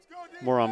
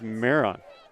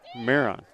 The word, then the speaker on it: Maron: I've been pronouncing it Moron, but it's Maron. Maron.